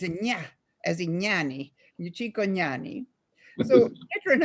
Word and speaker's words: Cicognani: Actually, the GN in Italian is a very difficult pronunciation because it doesn't exist in America. It's gna, as in gnani, Cicognani.